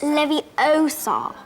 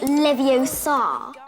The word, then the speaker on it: Leviosa: some of iron besides you're saying it wrong it's Leviosa not Livio sob with herion Ron's help